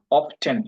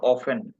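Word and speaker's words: often: অফট মানে হলো অফটেন, ইংরেজিতে আমরা উচ্চারণ করি বা অফেন। দুই ধরনের উচ্চারণ, আমেরিকান ইংলিশে বলা হয় অফটেন, আর ব্রিটিশ উচ্চারণে বলা হয় অফেন।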